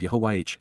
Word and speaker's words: Yahuwah: And so, Yahuwah, the proper pronunciation of Yahuwah, our Eloah, God as